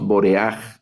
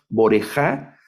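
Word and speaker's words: בּוֹרֵחַ: Entonces leemos boreaj, ¿verdad? Boreaj. No leemos boreja, sino leemos boreaj en este participio.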